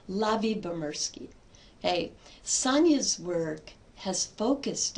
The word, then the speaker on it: Lyubomirsky: Her last name is pronounced Lavie-Bomersky. Lavie-Bomersky.